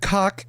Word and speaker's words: caulk: And he says, I sealed it with caulk and just wanted to keep the bugs out, so that's why.